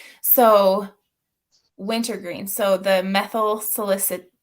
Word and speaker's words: salicylate: So the methyl salicylate. How do you say this? Salicylate.